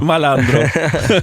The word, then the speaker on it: Malandro: Peux-tu le prononcer correctement, Malandro ? Malandro. Ça sonne mieux.